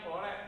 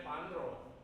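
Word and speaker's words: 般若: Bacanya Po Re tulisannya Pan Ro.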